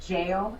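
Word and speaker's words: gaol: banks she runs the it's spelled gold but they say it jail it was the parramatta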